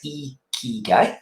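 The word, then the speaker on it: ikigai: um so this is It's pronounced e guy is a pronoun out there um it's a Japanese concept where eeky means life and Guy means your value or worth now this task here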